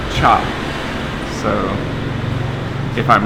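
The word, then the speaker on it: trà: But anyways, in Vietnamese, you spell the word tea, or the word tea is spelled T-R-A, but it's pronounced, don't know if I'm gonna get this right, but I think it's cha.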